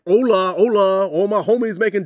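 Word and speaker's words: hola: why are you saying Hala like I'm saying hello and Spanish oh that c an argument I get the whole Spanish lesson there no it's Ola you don't pronounce the h in the words and words like with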